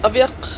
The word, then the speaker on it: Aviaq: Well, it's supposed to be pronounced Aviaq because it's a Greenlandic name that means same blood or runs in the family.